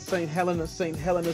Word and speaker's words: St. Helena: St. Helena, say it correctly.